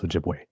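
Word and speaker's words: Ojibwe: That that must have been a slip of the tongue on my part because I've always known it as Ojiway.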